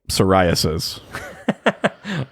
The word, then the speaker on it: psoriasis: there we go yeah it's a silent p like psoriasis oh no that's not